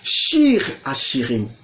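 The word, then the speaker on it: שיר השירים: La prononciation en hébreu c'est Shir Hashirim, Cantique des Cantiques.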